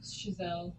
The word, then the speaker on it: Chazelle: I believe it's pronounced Chazelle. Shazam? It's a French name.